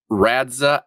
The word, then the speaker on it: Radxa: calling it Radxa because I don't know how else you would say that.